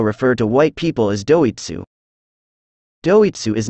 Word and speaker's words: Doitsu: As you know, Japanese people also refer to white people as doitsu. Doitsu is not an N-word, it actually refers to the word, Deutsch, which cannot be pronounced perfectly in Japanese accent.